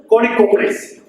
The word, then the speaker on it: Kanakapulis: Kanakapulis, of course, is pronounced as Konikopulis.